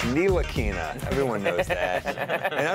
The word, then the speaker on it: Ntilikina: Excellent pronunciation. Kind of spicy. Ah, it's Nilakina.